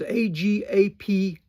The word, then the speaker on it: agapeo: That's how we spell it in English. The word for loveth here is A-G-A-P-E-O, or A-O, agapeo.